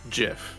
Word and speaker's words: GIF: number two is uh gif which is one that really bothers me because the the most most correct way to say it is jif because the person who invented the gif said it should be